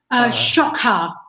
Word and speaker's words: XOC-Ha: It's pronounced XOCHa, right? XOC-Ha. XOC-Ha. Okay. Kind of like shock and awe, but you put a ha on the end.